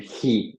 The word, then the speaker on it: He: Insiste bien sur le H, donc She, du he. Donc du he, he, c'est ce qu'on appelle un H aspiré. Donc tu me prononces bien le H.